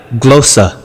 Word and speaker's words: glossa: तो Shibu Thomas, ग्लोसा, what is the right pronounce? फिर play करो। the Greek word of the day. Today we have glossa.